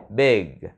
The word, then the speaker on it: big: big city, big, big, là chuẩn bị nói chữ g mà không nói ra thì nó mới thành cái chữ này được nha. Big, big, chứ mình đừng đọc là bit, bit, bit là âm tờ rồi nha.